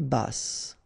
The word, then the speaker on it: basse: À taille basse, okay, so basse, final E not pronounced, but then you pronounce the double S, so S, basse.